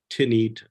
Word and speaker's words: Tanit: with The Phoenician goddess tanit the goddess tanit likely pronounced tinit or a thanit something like that in Antiquity was the